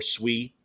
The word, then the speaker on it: Sui: I I threw on some obviously the sweet ones like Sooie or Sui, you know, the proper pronunciation, but people like Sooie.